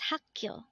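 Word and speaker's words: 학교: mul next word is hakyo again this is pronounced as hakkyo and this is the Korean term for school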